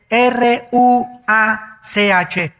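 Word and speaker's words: רוח: y exhaló Isaac Qué cosa el ruaj que se escribe r u a c h ruach en el hebreo y se pronuncia igual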